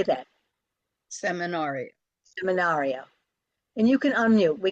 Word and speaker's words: seminario: getting them is to know which syllables to Accent the first word just has one syllable seminario so that's pretty easy say that seminar seminario and you can unmute